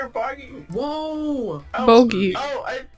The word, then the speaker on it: bogey: Boogie. Are you serious? Why does this happen to me? Whoop! Double bogey. I was bogey.